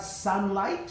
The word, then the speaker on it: sunlight: not all Y then we have sunlight which has silent gh in it number five grow with